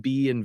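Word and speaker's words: ب: We just have the letter ba, so it's not pronounced bait; it's pronounced ba.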